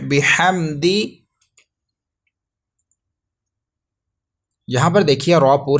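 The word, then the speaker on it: بِحَمْدِ: با زیر بی، حا میم زبر حم، بحم. دال زیر دی، بحمدی. دونوں ورڈز ملائیں گے. فسبح بحمدی.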